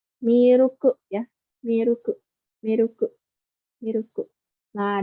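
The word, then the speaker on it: ミルク: Dari milk ya, karena di bahasa Jepang itu nggak ada L, jadinya miruku.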